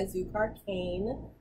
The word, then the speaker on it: Zukar Kane: But but as of now, a lot of people know me, or I go by Zukar Kane. Say it right, a Zukar like sweet sugar cane, because I'm all about the simple life.